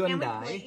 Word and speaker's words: Hyundai: can we pronounce it correctly Hyundai? For a minute? Exactly. Hyundai.